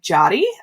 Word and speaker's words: Yari: So my name is spelled Yari. It sounds like Jotty, with a hard J, not all the way it looks.